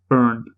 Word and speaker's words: Byrne: I said Gabrielle Byrne was Gabrielle Bryan when we did The Usual Suspects, and I was like, no, of course that's not how you pronounce it. It's just a weird way of spelling the surname.